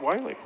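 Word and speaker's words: Wyly: 42 with the, that's Keegan, and I think they pronounce it Wiley, W-Y-L-Y.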